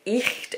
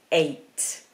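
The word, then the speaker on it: eight: There's a lot of letters in that word, and some people pronounce it icht or echt or really get themselves confused. It's just 8.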